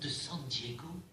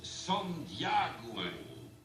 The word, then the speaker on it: San Diego: aujourd'hui qu'à menacer personne san diego en réalité ça se prononce son diagou rendez vous n'est pas